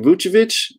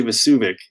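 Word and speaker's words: Vučević: be worth adding but i still don't know how to say it is it muchovich i always want to say vasuvik uh but it's vuchevich i believe don't get to watch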